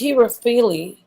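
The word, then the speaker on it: Herophile: And her name is Hieropyle. That's how you say it? Okay. Hieropyle. Yeah. Hieropyle. Oh no, it's Hierophile.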